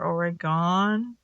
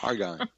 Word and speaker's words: Oregon: Oregon or Oregon? Okay, I'm sorry. Go ahead, Tom. I'm sorry. Argon.